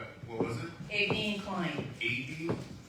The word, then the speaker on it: Aveen: Aveen Klein. A-D? A-V-E-E-N. Is how you pronounce it.